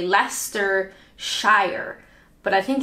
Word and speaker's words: Leicester: hose is that how you say it Lester Lester see you Lester sure sometimes the first time I say is the right way and then I doubt myself but my brain like I traditionally would say Lester Shire but I think it's more like Lester